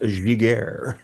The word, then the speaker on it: Giguère: And if you're wondering, folks, it's pronounced Giguère.